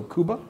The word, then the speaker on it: Kuba: Kuba, I believe, is the way to pronounce their name. It's I'm going to let you butcher all the names. K-U-B-A, so Kuba.